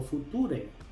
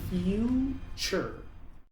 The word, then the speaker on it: future: Muchos pronuncian esta palabra futur o future, pero aquí la primera u se pronuncia, la t se pronuncia como t ch. La segunda u es muda y la e al final es muda. Así que esta palabra se pronuncia future.